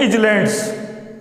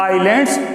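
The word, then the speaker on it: islands: अब इसमें विशेष बात और, कुछ लड़के इसको बोलते हैं इजलैंड्स, तो ये इजलैंड नहीं होता। अब तुम कह सकते हो कि सर उस इज एम आर उसको तो बोलते हैं, तो ये उसका प्रोनाउंसिएशन हेल्पिंग वर्ब का तो है, लेकिन इसको बोलते हैं आइलैंड्स, और इसमें जो एस है वो साइलेंट है।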